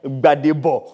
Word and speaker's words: Gbadebo: You pronounce my new energy. Gbadebo.